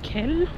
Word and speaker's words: Kehl: Allemagne donc dans la ville de Kehl oui mais il y a le H c'est le H que je prononcé et du coup là